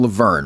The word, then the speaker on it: LaVergne: It's Malcolm LaVergne, right? Am I pronouncing his last name correctly?